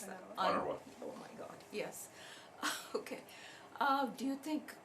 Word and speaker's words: UNRWA: Canada and Sweden have now resumed funding for, what do you pronounce that? UNRWA.